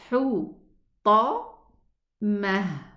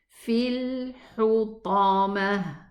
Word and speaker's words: الحطمة: Hu, ta, mah. Okay? Fil hutamah.